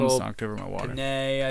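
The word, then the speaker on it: Peña: Pena, I think it's how you pronounce it. Pena. It's Michael Pena. Pena. It's Latino.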